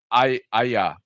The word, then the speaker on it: Aja: His Hawkeye series that he did with David Aja, Ara, however you want to pronounce it. Aha, David. Aha, Aha, David aha, Aha, Aha.